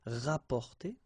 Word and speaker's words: rapporter: So same thing here, you don't pronounce the double P, rapporter.